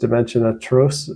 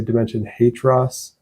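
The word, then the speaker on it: Dimension Hatröss: five is dimension atro I think it's pronounced Dimension atro I've heard a lot of people say Dimension hatross um it's by the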